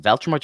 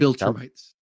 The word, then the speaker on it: Viltrumites: The Viltrumites, or is it Veltrumites or Voltrumites? Viltrumites. Viltrumites. Said it wrong twice.